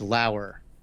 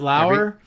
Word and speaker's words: Lauer: Is it Lauer? I'm pretty sure Rian it's Lauer. Got it. Yes, Rian Lauer. Oh, I can never remember. I'm so sorry, Ryan. It's Lauer spelled like lower, I think is what he says.